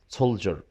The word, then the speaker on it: soldier: طبعا كلمة soldier ننطقها أكنها حرف الجي هنا soldier soldier.